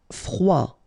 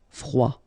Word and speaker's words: froid: Froid. Final D not pronounced. Froid.